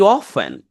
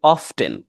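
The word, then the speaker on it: often: হি অফেন, অর ইউ can pronounce it অফটেন, দুটো উচ্চারণই হয়, একটা আমেরিকান একটা ব্রিটিশ।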